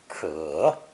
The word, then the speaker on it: 可: So today's first character combines this phonetic with the mouth radical to create another third tone ideogram pronounced ke, ke.